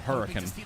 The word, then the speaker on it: Hurricane: I lived in a little town called Hurricane, or well, it's called Hurricane, but spelled like hurricane.